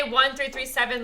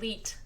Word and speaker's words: 1337: There's people who say 1337 Lauren. They don't pronounce it like Leet.